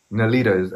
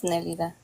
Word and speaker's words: Nelida: And so I would suggest for you, Nalita, am I pronouncing that correctly? Yeah, it's Nelida.